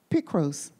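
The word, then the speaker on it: πικρός: can't well why not the greek word for bitter is pronounced picross and it's an adjective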